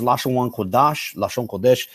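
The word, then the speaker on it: לשון הקודש: a rabbinic influence even the phrase lashawn kodash is the proper pronunciation uh that's taken from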